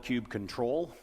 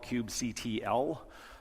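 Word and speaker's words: kubectl: some people call it cube cuddle that's usually what i refer to it as although some people also like to call it cube cuttle with more of a t sound i asked a good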